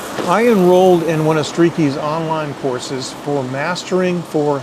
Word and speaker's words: Streaky: It's spelled just how it sounds, Streaky.